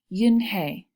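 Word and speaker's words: Unhei: turning around it was Joey your name is Yoon hee he asked her with his eyes open wide yeah and he looked quickly at mr. Kim then turned to Joey she nodded slowly yes it's pronounced Yin Hey and it means grace mr.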